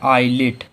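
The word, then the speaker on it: islet: रहा तो हम लोगों का फिर से यस साइलेंट है, तो इसे क्या पढ़ेंगे? आईलिट।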